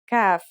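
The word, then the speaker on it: كاف: The first letter we're going to learn today is kaf. The kaf is pronounced just like the English K.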